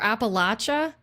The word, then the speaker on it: Appalachia: the Appalachian Mountains um or Appalachia is how they say it in Virginia. We've always said like Appalachian. I don't even know if there's a right or wrong way to say it, but it was like